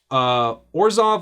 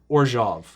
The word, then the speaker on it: Orzhov: Now, there's 2 pronunciations for this, either Orzhov or Orzhov, I believe is the 2 pronunciations.